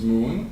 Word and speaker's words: Mun: So you can see Kerbin's moon, which they call Mun, or Moon, depending on how you want to pronounce it, but it's M-U-N in the game.